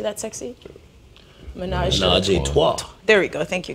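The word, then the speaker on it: ménage à trois: Menage a Trois.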